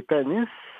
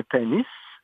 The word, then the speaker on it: Panis: Et puis, quand le curé les baptisait, il écrivait « J'ai baptisé un panis appartenant à... » parce que avec la prononciation française, Pawnee devenait Panis.